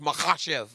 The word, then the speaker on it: Makhachev: correctly okay Islam MV it's like an h mahash i don't even say